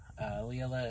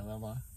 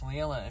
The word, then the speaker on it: Leela: Leela is a friend of mine. I always want to say Lila because of how it's spelled.